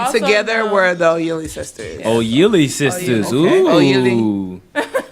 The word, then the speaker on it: Oyili: And Also together known- we're the Oyili Sisters. Oyili Sisters. Okay. Ooh. How you say it? Oyili? Oyili.